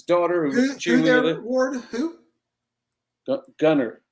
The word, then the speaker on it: Gunter: Gunner. Sorry, did there I pronounce it? I got to work on you about that. I got to work on you about that. One day I'll learn. One day. Get that T out of there.